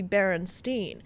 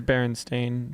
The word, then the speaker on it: Berenstain: It used to be Berenstein, and then this dimension it's Berenstain. Right. Okay. It is Berenstain, but Well- Steen sounds so much better.